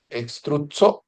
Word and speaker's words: struzzo: Struzzo, struzzo, igual que pizza. Struzzo, pronúncialo así, struzzo.